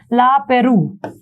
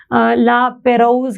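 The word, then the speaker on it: La Pérouse: देखो ला पेरू is kind of French word, तो इसको इसलिए से प्रोनाउंस में कर रही हूँ। अदरवाइज आपको याद करना तो आप ला पेरोज के नाम से भी इसको याद कर सकते हैं, आपकी मर्जी है, कोई दिक्कत नहीं है।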